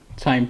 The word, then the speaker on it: QIIME: It's spelled as q i m e but the pronunciation is chime ch h y m e or cs m e.